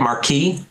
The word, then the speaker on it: Markee: the cover for how do you say it Marquee Marquee books Marquee books uh excellent cover um